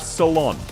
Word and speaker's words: Solon: Solon, exactly. It's spelled with a C, but you pronounce it as if she's going to the salon. Saloon is closer to her name correct than Ceylon.